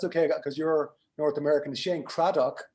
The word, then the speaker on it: Cradock: will tweak you on the pr on the pronunciation that's okay because you're north american shane craddock right with one d which you're fine no